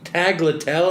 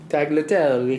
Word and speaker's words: tagliatelle: a type of pasta aglet tell i'm sure you're mispronouncing it tagliatelle well you you invite